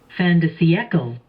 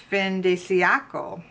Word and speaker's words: fin de siècle: It is French for end of the century, but I want to see how to pronounce it. Oh, here we go. Fin de siècle. Did you hear that? Fin de siècle.